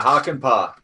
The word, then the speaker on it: Hakanpää: Yeah, Hakanpää.